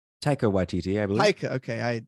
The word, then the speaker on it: Taika Waititi: Shouts to Taika Waititi. Did I pronounce that right? Taika Waititi, I believe. Taika. Okay. I put the emphasis on the wrong syllable there.